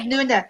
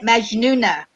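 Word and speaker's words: مجنونة: Magnuna. That's Egyptian, and, Yes, and, and yes. Moroccan No, would I be got Anna Bent Majnuna because it's a J sound. Majnuna.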